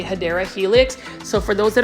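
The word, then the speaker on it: Hedera: correct way to say hadera Helix so for those that are new I mispronounce hadera Helix as hedra Helix because for the longest time I was like mispronouncing it and so for those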